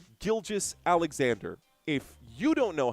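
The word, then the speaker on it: Gilgeous-Alexander: It's it's Gilgis Alexander. If you don't know how to pronounce the name, that's on you.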